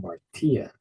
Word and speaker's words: hamartia: this is Martia called Martia notice that stress is on the final syllable so this indicates the